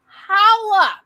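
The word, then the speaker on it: challah: looked and i'm going it's pronounced holla like holla back and several actors out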